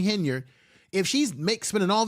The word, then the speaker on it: Henyard: Tiffany hener H henyard let me say it right Tiffany henard if she's make spending